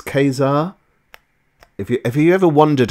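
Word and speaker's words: Ka-Zar: come up from the show it's um it's Kazar if you ever wondered how to pronounce this it's Kazar so it's it's k-a-z-a-r did I ever put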